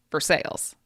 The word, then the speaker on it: Versailles: Uh, in Kentucky, we have a town called Versailles, but it's spelled exactly like Versailles. in France, but we say in Kentucky for sales.